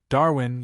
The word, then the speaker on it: Darwin: Darwin. Yes, that's how it is pronounced.